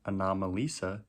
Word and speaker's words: Anomalisa: so i just finished the third movie anomalisa is how it's pronounced apparently and uh yeah it was exactly